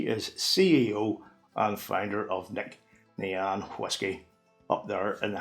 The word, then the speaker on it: Nc'Nean: Nc'nean. Wrong. It's Nc'Nean. That's the proper pronunciation.